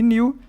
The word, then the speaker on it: knew: Então, know e knew, não pronunciou o K.